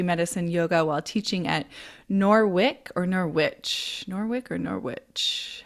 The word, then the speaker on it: Norwich: Lauren has been teaching yoga and meditation since 1997 and created energy medicine yoga while teaching at Norwich. How do you pronounce it?